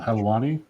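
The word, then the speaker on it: Helwani: I can never pronounce his last name. Helani.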